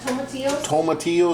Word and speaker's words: tomatillos: You can see how soft the onions and the tomatillos, is that how you pronounce it? Yep, tomatillos. Tomatillos. There's that jalapeno there.